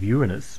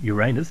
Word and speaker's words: Uranus: in the orbit of Uranus or Uranus depending on which pronunciation you prefer indicated a ninth planet